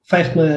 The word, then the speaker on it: Feichtmeir: It is Feichtmeir. Is that it? Feichtmeir? Feichtmeir, yeah, you did well.